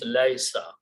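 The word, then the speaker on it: ليس: First of all, when you read these together, you change the sound of this middle letter to a sukoon and it becomes laisa. Easy to pronounce.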